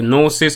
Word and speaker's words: Gnosis: not sure are the gnosis i think that's how you probably pronounce that g probably silence so it says the